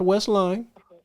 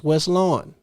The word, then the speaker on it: Westlawn: It's not Westline. It's WestLawn. Okay?